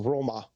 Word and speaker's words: Roma: Um, I mean it's like often it's a completely different word like Rome isn't Rome in Italy. It's a Roma.